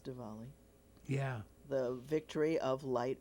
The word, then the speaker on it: Diwali: It's either spelled with a W or a V. Uh-huh. Usually a W, but it's Diwali.